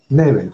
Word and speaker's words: Nebel: ¿Neville o Neville? Neville, ok. Ok, ¿por qué estás en el mundo de la lucha libre?